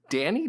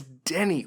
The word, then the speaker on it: Denny: they saying it weird Danny Denny it's Denny like Denny's the restaurant like the rest anyways